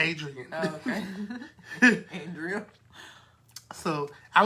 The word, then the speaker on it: Adria: How you pronounce it? Adrian.